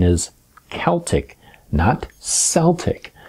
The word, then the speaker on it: Celtic: this yourself and if you do the proper pronunciation is Celtic knot celtic it's not a soft see it's a hard